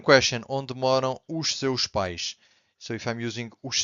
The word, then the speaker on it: pais: So os meus pais moram em Portugal. Be careful with this word because pais, os pais means the parents.